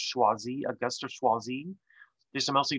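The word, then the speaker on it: Choisy: wii and of course his name is pronounced schwazzi augusto schwazii there's some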